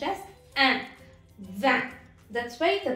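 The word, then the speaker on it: vingt: Then comes the last number for the day, that is van. Here the letter G and T are silent, so you should not pronounce it.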